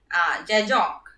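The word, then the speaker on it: Zajonc: explanation was given by Jajong. This name is pronounced to rhymes with science.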